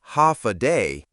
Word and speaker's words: Hafa Adai: Step foot on Guam and you'll hear one word again and again, Hafa Adai. Pronounced Hafa Day, it means hello in Chamorro, but it's more than that.